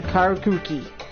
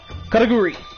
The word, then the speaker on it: Karakuri: All one could want to know of the Karuki. Oh my god, that's just so bad for me to pronounce it. Karakuri, and continue in this tune.